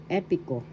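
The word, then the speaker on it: epiko: Second, epico, epic in English. Epico. First syllable e, second syllable p, third syllable ko.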